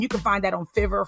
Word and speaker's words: Fiverr: can find that on Fiverr Fiverr however you want to pronounce it I pronounce it fever f-i-v-e-r-r um you can